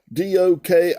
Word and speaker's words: Dokimazo: It's spelled D-O-K-I-M-A-Z-O. It's pronounced Strong's G 1381 Dokimazo.